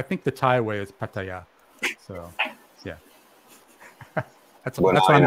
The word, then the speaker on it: Pattaya: Pattaya or kataya Patia how do you say it yeah that's it guys that's it one and done that is how you say Pattaya do I say it right yeah yeah all right so you got to get your man Alex saying it right come on Alex you gotta stay at the Thai way oh yeah no Pat